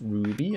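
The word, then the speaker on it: RWBY: assure you of that is pronounced Ruby and it's the it's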